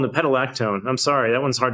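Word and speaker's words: nepetalactone: So that one is called Nepetolactone. I'm sorry, that one's hard to spell. But if you can't spell it, it's a compound in catnip. So I like cats. So Nepetolactone Substack, you'll find a lot of the work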